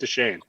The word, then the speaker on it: Deschaines: Andy Deschaines. I'm here. Andy, do you pronounce the S in your last name? I've always wondered. I'm going to ask. I do not. You do not. So it's just Deschaines.